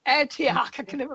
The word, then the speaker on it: Antioch: right back actually there's a college called antic and Antioch pronounced that a college who over